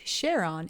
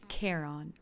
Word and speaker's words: Charon: pluto's moons in mythology the name was not pronounced sharon it was pronounced charon charon was the fairy